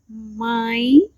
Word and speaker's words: mãe: So it sounds like and For example, mãe, mãe, which means mom.